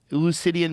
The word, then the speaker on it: Eleusinian: Eleusinian mysteries?